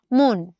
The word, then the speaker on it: মন: এই শব্দটা আমরা উচ্চারণ করি এমন, মন। আমরা কিন্তু কখনো মন বলি না, আমরা কি বলি? আমার মন খারাপ বলি না, আমরা বলি আমার মন খারাপ। তার মানে এই ময়ের উচ্চারণটা ময় ওকার হয়ে গেল।